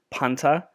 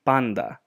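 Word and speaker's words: πάντα: Ni and tav are pronounced as a D when they're together. So in English, D. So as what you've learned as panta would be panda.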